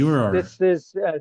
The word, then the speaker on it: furor: It's Furor. like you pronounce Furor. the both those R's. Like you don't smooth over any furor.